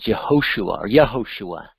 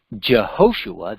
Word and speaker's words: Yehoshua: If we go to Jehoshua, that would be Hebrew directly into modern English, where you'd use the J instead of the pronunciation of the Yud or Y sound.